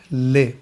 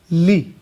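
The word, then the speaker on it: لِ: لے. دقیق عربی تلفظ کیا ہے؟ لی. لے ہمارے اردو لہجے کی وجہ سے، لہذا اگر ہم دقت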